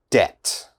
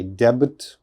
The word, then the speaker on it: debt: difficult uh listen carefully debt debt okay which letter i don't pronounce debt this b never say debit or something like that it is debt d-e-t debt debt be